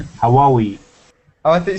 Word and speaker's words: Huawei: Is it just Hawaii? Huawei.